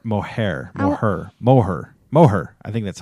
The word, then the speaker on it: Moher: Um I love to see the cliffs of Mohare. Moher Moher.